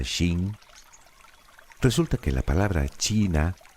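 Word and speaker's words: 秦: Sí, ya sé que eso tampoco te dice nada, pero ¿y si te digo que el vocablo King en realidad se pronuncia de forma parecida a Shin?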